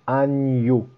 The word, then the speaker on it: agneaux: faut savoir absolument l'écrire surtout à cause de cette prononciation millet agneaux ça c'est super important donc le n après le g c'est toujours comme ça n'y a pas de